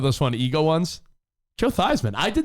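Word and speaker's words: Theismann: it's a great story he wanted it to rhyme with Heisman so before he was in college he was Joe thieman Joe thieman went Joan and Joe thian became Joe thyman because he wanted to win the Heisman and then there's just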